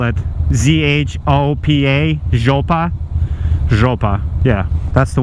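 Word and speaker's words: жопа: It's a must know, and the word is zhopa.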